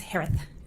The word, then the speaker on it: Herath: last name is pronounced like Harris with a lisp it's herath h-e-r-a-t-h hi Jay hello I'm